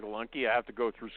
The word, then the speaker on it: Lunke: is it Lunke or Lunk? How do you say your name? It is Lunke.